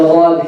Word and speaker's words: ضاد: Make the D'aad heavy. Pronounce it without any ghunna. You don't say, well, did we ever mention the nasal cavity here? We never mentioned it. So no ghunna.